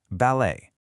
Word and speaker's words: ballet: And for that beautiful style of dance, you do not pronounce the t. Ballet is simply pronounced ballet.